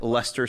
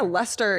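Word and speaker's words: Leicester: sauce Worster or like Lester City that soccer team oh no yeah Lester is literally but it's spelled like l e i s t e r there's one in Massachusetts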